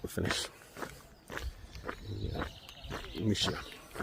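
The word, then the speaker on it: Muxía: Yeah, Muxia, which I've been pronouncing Muxia up until recently, is our end point.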